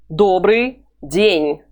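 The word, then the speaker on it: добрый день: daubrey ding door breeding try to imitate my pronunciation door Bree ding there's the signed ooh it's just like eat but it's harder with your tongue that goes a bit lower ooh buddy Bree try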